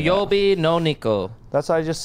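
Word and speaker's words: 水曜日の猫: Suiyobi no neko.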